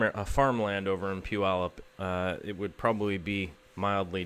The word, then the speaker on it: Puyallup: I first moved here you said pile up yeah but pile up would actually be a pretty good explanation of Puyallup especially to go a